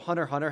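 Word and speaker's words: Hunter × Hunter: an X in it the Japanese don't pronounce the X it's just there as a visual thing that's why for example hunter hunter has an X in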